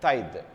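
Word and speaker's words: taille: named okay so pronunciation A lot of people tend to pronounce like today no that's a Thai okay and then they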